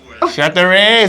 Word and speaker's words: Chateraise: Yeah, how to pronounce? English speakers. Chateraise. Chateraise, that's right.